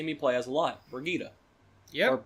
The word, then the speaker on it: Brigitte: But the other one is someone that you see me play as a lot, Brigitte. Yep. Or Bridget, how some people pronounce it. It's Brigitte.